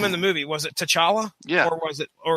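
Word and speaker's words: T'Challa: the movie was it to chala yeah so it wasn't Tala it wasn't like the CH was silent or anything so they was like they pronounced all the consonants and syllables that were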